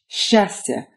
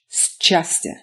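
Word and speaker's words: счастье: Basically, if you run into a s and a ch together, as in shastya, you pronounce that combination shastya rather than schastya.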